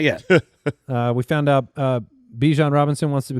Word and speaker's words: Bijan: We found out Bijan Robinson wants to be called Bijan.